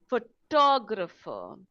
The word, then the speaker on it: photographer: Photographer, photography, right? You'll notice that the photographer, the stress is on the second syllable, and that is what we mean by word stress.